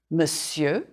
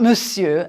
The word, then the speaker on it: monsieur: You can draw a line through the R, the R, to remind you not to say it.